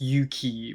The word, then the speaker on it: 勇気: on the new betcover album, Yuki, or in Japanese it's Yuki, which means courage, bravery.